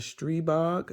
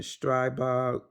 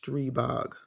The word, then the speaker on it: Stribog: you go this is the street bog that's how it's pronounced you may see some people on YouTube pronouncing it strebox but it's it's pronounced stribok I had to get